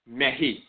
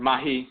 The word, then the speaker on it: Mehi: But the key here is, first and foremost, there's a title of Ausar where he's called Mehi. Mehi. Sometimes Mahi or Mehi, from the root meh.